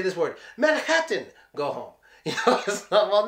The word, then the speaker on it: Manhattan: think you know whoa guess what it gets the Putin T its Manhattan Manhattan nobody says Manhattan